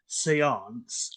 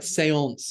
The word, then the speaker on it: séance: Firstly, I love your pronunciation because it's so much fancier than when we say it. So I like séance is so much better than séance. Yeah, it's more French, more accurate.